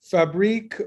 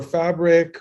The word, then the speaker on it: Fabriik: people and I say, it doesn't matter how you pronounce it, as long as you pronounce it. So Fabriik or Fabriik or Fabriik, depending on where you are in the world, all works.